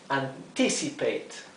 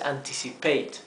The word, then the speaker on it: anticipate: to anticipate significa anticipar pero fíjense que la la sílaba tónica es esta anticipate no es anticipate no es anticipate acá fíjense Como aquí